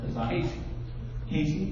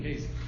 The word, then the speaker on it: Casey: Kazai, is it pronounced Kazai? Casey.